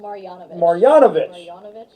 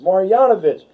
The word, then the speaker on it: Marjanovic: How do you pronounce it? Marjanovic. Marjanovic.